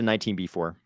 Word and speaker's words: 19b-4: I would just call it a 19B4.